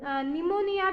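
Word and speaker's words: pneumonia: भी वैसा ही है निमोनिया में भी हम क्या करते हैं पी का उच्चारण होता है पी एन ए यू एम ओ एन आई ए but Hampi का उच्चारण नहीं करते तो कहते हैं की निमोनिया वैसे ही कुछ ऐसे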